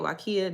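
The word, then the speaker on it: Waiakea: That's how they say it, Wakia.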